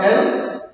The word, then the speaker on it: isles: So who are those ethnic groups in this island or L? This is actually ISLES. So here yes and this S both are silent. L. That's how to pronounce the L. It is not isles.